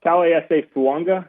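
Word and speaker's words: Taliese Fuaga: about really quickly uh T SAA fua which that's a name that if you're trying to figure out how to say it that is how it's said I asked him uh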